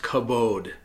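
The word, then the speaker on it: כבוד: In English, the word is usually written kavod and pronounced kabod.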